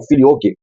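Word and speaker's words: Filioque: Então, eh a palavra latina filhook ou alguns pronunciam como filok eh significa literalmente e do filho.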